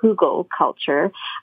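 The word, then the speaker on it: hugelkultur: the wood decomposes so look up frugal culture it's spelled h-u-g-e-l hugo culture it's a practice that is readily used across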